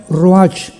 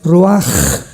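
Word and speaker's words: ruach: h, que se pronuncia roach, pero en el hebreo es roaj. La ch en el hebreo es como J.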